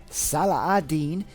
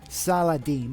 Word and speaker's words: Salah al-Din: part of the world, it's pronounced more Salahadin. So I thought it would be really cool if for this episode we'd pronounce it the Islamic way, Salahadin, and in the first episode we pronounced it the more European way, Salahadin.